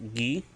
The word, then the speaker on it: gi: A fish, which is just Gi, and it's spelled Ge, but it's a hard G. Instead of saying G, instead of saying Gi, it's G.